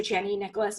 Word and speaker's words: Chani Nicholas: And again, everything I give credit to Chani Nicholas because I'm and that is how you pronounce her name.